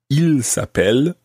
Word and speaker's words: ils s'appellent: Well, it actually sounds exactly the same as he is called. Il s'appelle. He is called. Ils s'appellent. They are called. But it's spelt differently and it's got a silent part at the end of ils s'appellent. It actually ends in ENT.